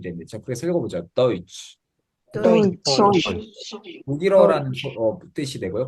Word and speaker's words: Deutsch: TSCH는 SCH가 쉬 발음이거든요. 근데 거기에 T가 붙으면 이거 우리가 모두 아는 발음입니다. 한국어 치읓 발음이 됩니다.